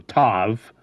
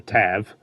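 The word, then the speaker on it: Ptavv: If the power does not manifest itself in a young Thrent, that Thrent is labeled a Tav, P-T-A-V-V, so I'm assuming the P is silent, so Tav, or Tav, and is destroyed or sold into slavery.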